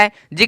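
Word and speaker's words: hedge: डी जी ई यहां पे जी दिख रहा है जी के ठीक पहले डी दिख रहा है जी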